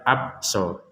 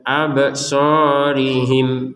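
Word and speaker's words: أبصارهم: Jadi abso, jangan sekedar abso. Nah, itu tidak ada pantulan, nggak boleh, harus ada pantulan absorihim seperti itu.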